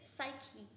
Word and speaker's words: psyche: It is psyche. P is silent, so you pronounce it as psyche.